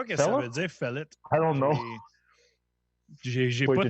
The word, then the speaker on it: Féleth: Oui, Féleth. Féleth. Ça s'écrit avec un E accent aigu, deuxième lettre.